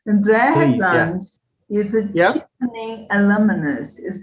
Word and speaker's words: Hedlund: honest, because I think I normally say the Americanized version, like Headland, because I normally see people Hedlund. read it and then that's what they say, but it's actually Hedlund because it's Oh, because Swedish.